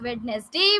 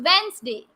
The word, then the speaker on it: Wednesday: wetness day is it you pronounce it this like this witness day but it is not wednesday it's wednesday we don't have the sound of d here it's wednesday wednesday table i am